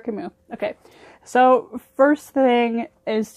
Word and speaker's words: Camus: But he's French, I think, so it's pronounced fancy Albert Camus.